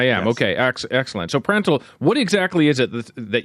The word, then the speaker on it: Prandtl: Am I pronouncing the name of the company properly? You are. I am. Yes. Okay, excellent. So Prandtl, what exactly is it that you've created here, and how would it be used?